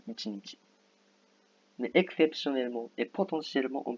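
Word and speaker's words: 一日: On dit plutôt Ichinichi. Il y a des prononciations communes. Ça veut dire que normalement on dit Ichinichi.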